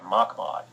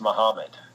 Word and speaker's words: Muhammad: with him and apparently Elijah Muhammad had been pronouncing his name Elijah MacLeod and this yeah this of this theologian from the Middle East I believe said that's pronounced Muhammad and it took some convincing to get him